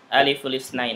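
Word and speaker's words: ألف الاثنين: Aliful isnain gitu ya. Dibacanya aliful isnain. Kasrahnya pindah ke lam.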